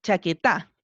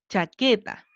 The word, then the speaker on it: chaqueta: dónde cargamos la voz probemos en la última chaqueta no nos suena vamos con la penúltima chaqueta ah y si suena bien entonces podemos decir que